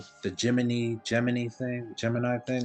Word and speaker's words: Gemini: geminy instead of Gemini it's spelled like Gemini but they say geminy and it's like close to geminy like gin so I was like